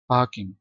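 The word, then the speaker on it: parking: पार्किंग places ठीक है पार्किंग फार silent है इसमें पार्किंग प्लेसेस अच्छा कामयाबी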